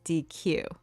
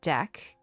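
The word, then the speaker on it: deque: pronounce how to pronounce the data structure deck is typically pounced deck like a deck of cards because it helps differentiate it from the verb dq which means to remove an item from a que because I'm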